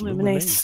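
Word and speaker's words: Lumines: say the name again luminase that's the pronunciation I've never heard so that does look I think it's the actual correct I don't know it might be I don't know I've heard lumens luminous it's luminous luminous luminous um it's I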